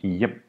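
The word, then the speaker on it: hjem: spe speak but V notice the H is mute and you do not say the H when is before A J either so for instance the Danish word for home which is y is pronounced yep so these are the four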